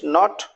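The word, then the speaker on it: knot: अब बचेगा नाइफ, नी, के एन डबल ए नी, के एन ओ नॉट, knitting and नो, के एन ओ डब्ल्यू।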